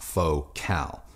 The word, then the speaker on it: Focal: me a hard time it is pronounced faux cal i even called france